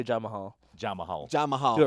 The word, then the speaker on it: Jamahal: Yeah, it's Jamahal. Jamahal. Especially when you look at the spelling, you're like, oh wait, that's not This Jamal.